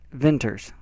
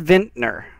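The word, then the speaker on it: vintner: not crazy he said he said venters right I just want to see the pronunciation of it it is ventner a person who makes or sells wine ventner like that what is a ventor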